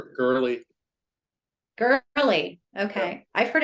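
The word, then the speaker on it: Goerli: And I'm just curious, is it Gorilla or Gorelli? How do you pronounce that? Girly.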